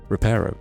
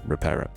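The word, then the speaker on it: Reparo: You know, Repro, it's Repero.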